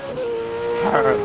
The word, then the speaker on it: Parrot: Parrot, like Parrot.